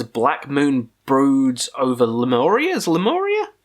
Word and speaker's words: Lemuria: Moon Broods over lamoria's lemuria lemoria is that how you say it yeah this is the debut